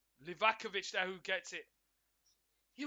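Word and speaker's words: Livaković: Sun and it's like lizakovich livakovich I'll keep getting this Keeper's name wrong livakovich now who gets it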